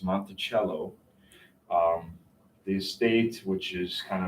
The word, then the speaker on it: Monticello: because the estate, ironically, this is not Monticello. We've butchered the name. It's Monticello.